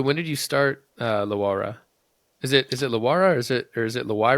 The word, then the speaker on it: LaWayra: la la la it's I like to say it's LA and then why and then ra yeah when did uh